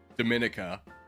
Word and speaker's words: Dominica: out told me that Dominica is pronounced Dominica like the Dominican Republic and I was like